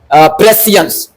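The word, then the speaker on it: prescience: इसलिए सी आई ई का उच्चारण यहां पर स है।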